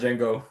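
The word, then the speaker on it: Django: You don't you don't pronounce the D. Oh silent. The D is the D is silent. Jango.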